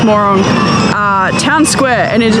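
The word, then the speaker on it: Mörön: We have finished dinner, and we're at the Murong or Morong. It's actually pronounced Morong.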